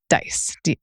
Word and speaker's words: DICE: He's also a former NCAA intern and co-founder of Diversity, Equity, and Inclusion Council for Excellence, pronounced DICE. Yes, DICE. DICE.